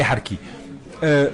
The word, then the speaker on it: harkis: livre sur les harkis puisqu'on va a prononcé sa à l'algérienne les harkis parce que au début